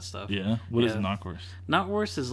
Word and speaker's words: knockwurst: Knotwurst is like Is it knock or not? It's spelt knock, but it's pronounced knot.